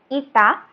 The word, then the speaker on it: eta: it is denoted by the symbol is pronunciation is eta, and that X which is at the right superscript X.